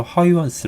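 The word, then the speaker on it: Huygens: 크리스티안 허이 허이 겠는데 이게 이제 네덜란드식 발음을 허위 원스 라고 읽는 게 맞다고 합니다 크리스티안 하위 원스 는 그건 그 사람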